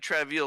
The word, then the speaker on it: Travail: I said Travail like that because it's spelled like that. Yeah, that's like an old English spelling of travel.